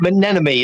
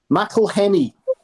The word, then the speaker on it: McElhenney: How do you pronounce it? Is it like it's like Menenemy, isn't it? Something. McElhenney.